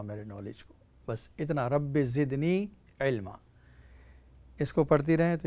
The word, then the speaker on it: رب زدنی علما: تلفظ چاہتی ہے۔ دیکھیے وقل جو ہے اس کو نہیں پڑھنا ہے، اس کو ہٹا دیں، صرف اتنا ہی پڑھنا ہے، رب زدنی علما۔ دعا یہ ہے، اے